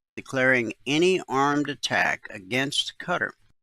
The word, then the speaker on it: Qatar: any armed attack against Qatar. Now, you may pronounce that Qatar, but I know someone who lived there and they said it really is pronounced Qatar by the locals.